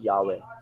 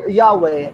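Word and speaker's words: Yahweh: na yun daw ah yahwe Ay hindi talaga yun ang totoong bigkas niyan no nilagyan lang yan ng vowel nilagyan lang yan ng vowel para mabuo no kasi yun talaga pagka nakita mo sa israeli na ano sa sa Hebrew na text Ang spelling niyan Ay yhwh lang So kung ano man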